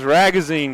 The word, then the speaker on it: Ragazine: I wrote on my notes that his name rhymes with magazine, and I read the wrong name. Oh, goodness. And it's 32-8. As Chris Ragazine goes to the foul